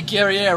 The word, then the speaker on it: Guerriere: V. Guerriere rhymes with derriere.